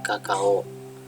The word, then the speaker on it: Cacao: Cacao cara bacanya adalah kakao.